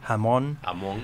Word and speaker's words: Hamon: Me llamó la atención la victoria de Benoît, no sé el apellido, cómo se pronuncia, Hamon, sí.